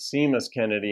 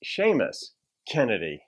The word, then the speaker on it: Seamus Kennedy: And so anyway, I think I pronounced it Seamus Kennedy on the last one. It's Seamus Kennedy.